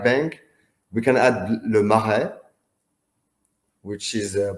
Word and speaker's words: Le Marais: We can add Le Marais, which is pronounced Le Marais.